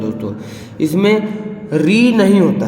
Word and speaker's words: ऋ: पर नहीं होता है क्योंकि इसका उच्चारण करते समय र और ई आएगा मतलब व्यंजन आ रहा